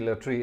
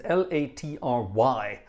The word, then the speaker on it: Latry: I love the way you're all trying to spend Latry, meaning Olivier Latry. It's Latry. There's no IE in there. Well, there is in Olivier, obviously, but not in Latry. Latry.